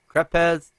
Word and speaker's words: crepe: Is it crepes? How do you pronounce that? Oh, okay, it's crepes. Okay, let me start all over.